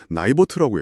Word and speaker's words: NIBRT: 바로 나이버트. 나이버트라고 읽더라고요.